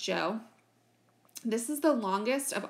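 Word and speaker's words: Zhou: is the Joe so if you look at this word it looks like Zhao but it's actually pronounced Joe this is the longest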